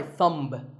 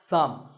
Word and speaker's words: thumb: the way what's this this is my thumb it's not my thumb it's pronounced thumb and what about this